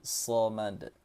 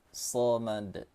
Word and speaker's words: shamad: Allahushamad, huruf shad ya bukan sa, bukan samad tapi shamad, shamad.